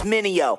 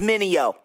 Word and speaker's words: Mineo: Try say my name, it's Minio. Say it with me, Minio.